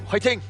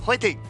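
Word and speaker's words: 화이팅: Fighting. Fighting. Which is like fighting. Like like fighting but with an H.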